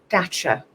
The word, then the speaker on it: Dacia: set for a TV advert for I can't pronounce the name of the car brand. It starts with D. Dacia.